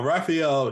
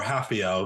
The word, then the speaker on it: Rafael: up I agree now Raphael he or hafio excuse me because I know that ours are not pronounced uh Rafael he's he's